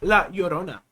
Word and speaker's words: La Llorona: I'm gonna be like, this is how you say La Llorona, right? First, you gotta make the double L sound like an L. La. Then, like Corona, you know, from coronavirus, not the beer brand, you say Orona.